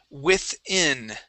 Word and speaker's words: within: Okay, let's go to the word within. Okay, right here. You had said within, using an E sound. We want to use short I's.